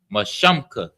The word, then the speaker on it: Mashamka: Mashamka. The sha and the ma are connected. So it's sham. Like in sh. So like it's connected. Sham. And then the ka is at the end. Shamka.